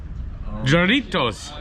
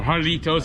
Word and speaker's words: Jarritos: made by coca-cola and even joritos or harlitos how they pronounce it they have their own